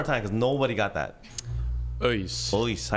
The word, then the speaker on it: ÖIS: No, but I support a team called ÖIS. Okay. One more time, because nobody got that. ÖIS. How do you spell that? Örgryte. It's like UHS.